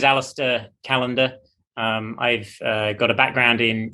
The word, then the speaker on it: Alastair Callender: meet you too uh how do you pronunciate your names in the audience i don't want to jack it up and chop it up yeah no worries my name is aleister callander i've got a background